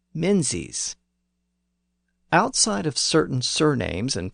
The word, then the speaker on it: Menzies: And another common surname, Mingus, was also spelled with a Z at the end, and it started to be pronounced as Menzies.